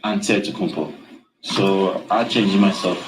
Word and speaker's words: Antetokounmpo: The Nigerian way, you gotta say with the D, so it's Antetokounmpo. But in the Greek way, you say with the NT, like Antetokounmpo.